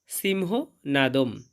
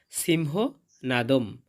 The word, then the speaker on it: সিংহনাদং: সিংহ নাদম। এবং শব্দের শেষে অনুস্বর থাকলে তার উচ্চারণটা অর্ধেক ম এর মত হয়।